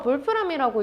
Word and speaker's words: Wolfram: 이 텅스텐의 원래 이름이 울프람이에요. 이게 독일어라서 볼프람이라고 읽는데 울프, 늑대가 들어있죠.